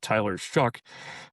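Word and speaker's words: Tyler Shough: Their quarterback, Tyler Shuck, pronounced not like it's spelled, but is a He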